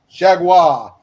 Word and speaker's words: Chargois: pronounced Jaguar.